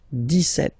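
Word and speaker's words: dix-sept: But then for the pronunciation, 17, okay, so you don't insist on the s, 17, 17, 17, okay, then 18, so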